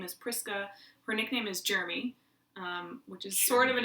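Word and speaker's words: Jrmi: Jeremy, for the chat's edification, is spelled J-R-M-I, Jeremy.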